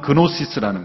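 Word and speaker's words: γνῶσις: 이것은 헬라어 그노시스라는, 영어에서는 쥐 발음이 이제 생략이 돼서 헬라어는 그노시스라는 거예요.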